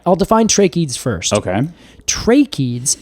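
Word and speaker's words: tracheids: Define tracheads first okay tracheeds and that is spelled t-r-a-c-h-e-i-d-s yes trachea exactly like trachea oh Alex is like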